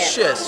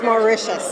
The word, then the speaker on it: Mauritius: Mauritius, so you don't say the T. It's Mauritius. Yeah.